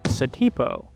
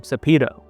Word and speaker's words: Satipo: Fun fact, according to the movie script, and by every official metric, this guy's name is actually Satipo. But apparently Harrison Ford mispronounced the character's name when he called him Sapido.